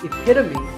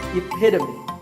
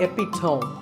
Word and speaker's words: epitome: might even become the epitome of good pronunciation this word means a perfect example of something and the perfect pronunciation of that is epitome it's not epic tone once again epitome of course once you